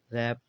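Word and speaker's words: wrap: W silent है wrist हो गया रैप हो जाए रैप रैप यानी कि लपेटना हो गया तो इसलिए यह साइलेंट होता है कब जब डब्ल्यू के साथ आए बात करें एक्स एक्स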